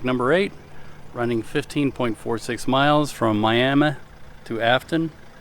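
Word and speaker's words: Miami: Federal Highway project number8 running 15.46 miles from miam to afon It's pronounced miam I found that out the only remaining nine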